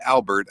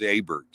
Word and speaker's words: Abert: And it's not Albert. I keep trying to add an L to it. And even my phone, when I try to spell it on there, it corrects and says Albert. It's Abert, A-B-E-R-T.